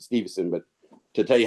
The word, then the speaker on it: Stephenson: Stephenson with the PH. I mean, they pronounce it Stevenson, but to tell you how to spell it, I call it Stephenson.